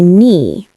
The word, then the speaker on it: knee: For example, knee, knife, hour, and doubt. You don't pronounce the K in knee or the B in doubt. Let's practice. I hurt my knee.